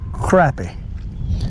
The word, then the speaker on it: crappie: You fellas wanna call it crappie, that's okay. But the South Carolina people calls it crappie, because that's the way it's spelled. C-R-A-P-P-I-E. Got no O in it.